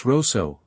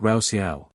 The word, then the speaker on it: Russo: You mispronounced his name earlier, by the way. It's Roso, not Rouseia. He's been quite clear about that in interviews.